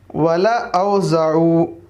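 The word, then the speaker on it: وَلَأَوْضَعُوا: तो लाम के बाद जो अलिफ है वह साइलेंट होगा, पढ़ेंगे वला, ला नहीं कहेंगे बल्कि वला औज़ऊ, वला औज़ऊ।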